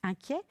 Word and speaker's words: inquiet: Je voudrais insister sur un dernier mot, qui est l'adjectif qualificatif inquiet. Il n'est pas très difficile à écrire. Hein? Attention à sa terminaison, ET, mais qu'on prononce est, un peu comme un gringalet.